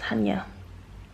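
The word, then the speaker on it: Chania: the weather here in hania by the way that's how it's pronounced Hanya um is dreary today but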